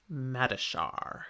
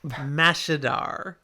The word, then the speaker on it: Mashadar: And all that was left was something called Mashadar. That's not how it's pronounced. I said it wrong. I didn't even I mean look at the spelling. Yep. Mashadar. That's what I meant.